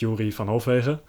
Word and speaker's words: Yuri van Hofwegen: He's called Yuri van Hofwegen, as the Dutch pronounce it, Yuri van Hofwegen.